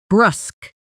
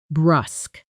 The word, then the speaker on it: brusque: Pronunciation. Brusk. Brusk. It rhymes with dusk. Brusk.